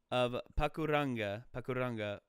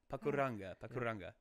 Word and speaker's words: Pakuranga: Your pronunciation of Pakuranga was decent. Hey. Oh. Hey. So that's Solaire, yeah. I think it's Solaire. So hey. So good. Yeah, that fills me with joy. So Pakuranga.